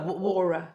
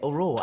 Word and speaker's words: Auror: Because I don't know if they wind you up as well, but can we get a definitive pronunciation of aurora? Is it? That's clearly what you think it is. No. Aura. It is aura.